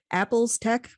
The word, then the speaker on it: ApplezTech: Is it ApplezTech? Yeah. ApplezTech. ApplezTech. Yeah. ApplezTech. Yeah. Oh Yeah. my God. Yes, the L is before the E.